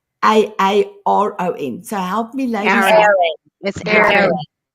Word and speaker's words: Aaron: I remember I call him Aurin, beautiful Aurin and other people call him Aaron. I cannot actually pronounce the American way for a A R O N.